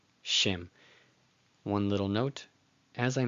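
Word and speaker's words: שֵׁם: It's pronounced before the consonant. So it's not nocha, nocha, it's noach, noach. Next. Shem, Shem.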